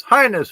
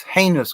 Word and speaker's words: heinous: words I'm gonna do a pronunciation two words one night heinous heinous highness who knows no it's it's heinous crime by the way so